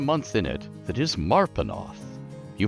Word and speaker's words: Marpenoth: But everybody uses his calendar, and there is a month in it that is Marpenoth. You pronounce it Marpenoth.